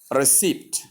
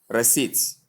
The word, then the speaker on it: receipt: So therefore, then it's wrong to say receipt. When correctly pronounced, we have it as receipts, where the P is silent, as we saw in debtor, where the B is silent.